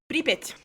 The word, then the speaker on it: Pripyat: Pripyat. The city of Pripyat in Ukraine, which is more commonly known as Chernobyl or Chernobyl.